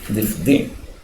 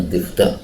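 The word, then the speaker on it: ضفدع: Difdi itu adalah yang lebih fasih, tetapi orang-orang sering membacanya difda, dua bacaan, tapi yang lebih fasih difdi.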